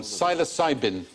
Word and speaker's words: psilocybin: but the magic mushroom psilocybin that was a silent p sinus interesting experiments being